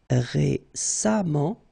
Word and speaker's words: récemment: exemple patient patiemment récent récemment et on prononce comme s'il y avait un a récemment patiamment merci beaucoup c'était vraiment très